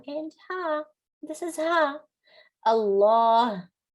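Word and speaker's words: الله: Allah, you hear a Ha sound in the end.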